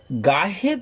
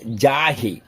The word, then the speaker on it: গাহে: আর হচ্ছে গাহে তব জয় গাঁথা নয়, অনেকে বলে ফেলে যাহে, কিন্তু হবে গাহে, মানে গাইব জয়গান।